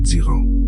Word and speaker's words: Ziran: Ziran, prononcé Ziran, littéralement, ce qui est ainsi de lui-même, ce